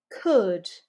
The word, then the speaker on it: could: So not ooh like in you, but almost like that neutral schwa. So practice it with me. Put, could, shook.